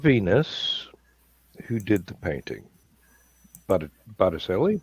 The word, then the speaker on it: Botticelli: who did the painting Botticelli Botticelli um I have absolutely no grasp of how to pronounce Italian butter chili sounds right yeah the the C is often pronounced like a CH we had a running